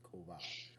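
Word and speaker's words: Ko'vah: So I'm like, all right, I'll put a hard K sound in there, so it's Kova. So it's now it's KO apostrophe VAH, va, Kova.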